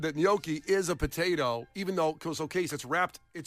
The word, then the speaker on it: gnocchi: I leaned into the G. Turns Yeah. out that was Some incorrect. gnocchi? I want that gnocchi.